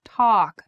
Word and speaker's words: talk: is a vowel Point talk should be a very open a sound talk talk and took should be